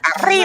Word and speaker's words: arriba: Because you have to roll the R. Arriba, Roll, arriba, roll the R.